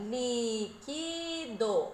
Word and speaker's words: líquido: Olha lá, o li é a antepenúltima sílaba e ainda está acentuada. Ela é a nossa sílaba tônica e ela é uma proparoxítona por causa do lugar que ela ocupa na palavra, tá?